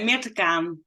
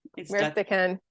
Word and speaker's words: Mirte Kaan: Oh, yeah, Mirte Kaan. Mirte Kaan. She's Dutch, so excuse my lousy pronunciation.